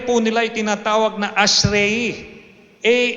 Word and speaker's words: Ashrei: Ito pong ating binasa kanina sa mga Jew ay kanila pong tatlong beses kada araw binibigkas itong kabanata na to na ang prayer po nila ay tinatawag na ashrei a s h a r e i.